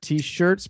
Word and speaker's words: t-shirts: t-shirts so the stretch the stresses on shirts instead of shirts not t-shirts but t-shirts t-shirts not fee no you're